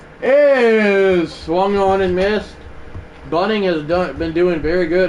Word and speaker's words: Bunning: And Jim Bunning's 42nd delivery is coming, not Bunting. Bunning is that is ball 1.